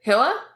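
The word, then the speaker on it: Hylla: differently it's I mean listening to it they said Hilla okay I just went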